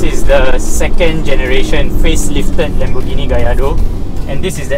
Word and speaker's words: Lamborghini: Okay, so this is the second generation facelifted Lamborghini Gallardo.